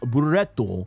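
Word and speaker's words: ブレット: Starting off, we got Brett, who is uh in Japanese, his name is pronounced Buretto.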